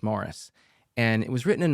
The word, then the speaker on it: Maurice: Forster's Morris, and it's spelled Maurice, but the British pronunciation is Morris.